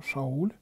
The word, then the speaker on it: Шауль: него произошел царь саул это имя по-еврейски произносится как а шауль но это колена вениаминова